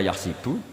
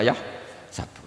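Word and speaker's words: يحسب: Karena dalam qiraah sab'ah ada yang baca yahsibu, qiraah kita baca yahsabu. Tapi guru-guru kita kalau ngajar fikih itu bacanya yahsibu. Tapi kalau baca Quran yahsabu. Ya kan Quran kita kan ayah sabu Allah yaqdiru alaihi ahad, bukan dibaca ayah sibu.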